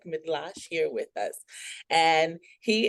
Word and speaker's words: Mydlarz: And the last name is it Midlash. Oh wow. Yes, you've been practicing Midlash. That is correct. Oh, I'm so excited to have Ger. So, we have Dr. Voytech Midlash here with us and he is the director